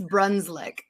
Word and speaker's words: Brunclik: no but that's okay it's brunsli it's a weird spelling so every night before